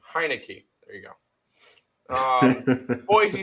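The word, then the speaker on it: Heinicke: a fave fade the dead skins that's fair hi no key that's how you pronounce his name heinecke there you go um Boise State plus two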